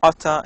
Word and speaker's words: ought to: So native speakers often pronounce ought to as oughta in informal speech.